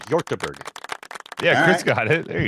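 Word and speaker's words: Hjortebjerg: gber yber pretty much it it's a silent J yber yeah Chris got it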